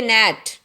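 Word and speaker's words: gnat: नेट, इसमें जी है ना बच्चों, वो साइलेंट आएगा, इसको हम पढ़ेंगे नेट।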